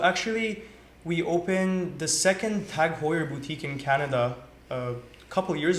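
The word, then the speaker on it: TAG Heuer: Yeah, so actually we opened the second Tag Hoyer boutique in Canada couple years ago now which was in Ottawa. So that was our first Tag Hoyer boutique.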